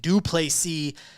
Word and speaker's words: du Plessis: Number 2, Robert Whittaker versus number 5, Dricus du Plessis. The S is silent at the end.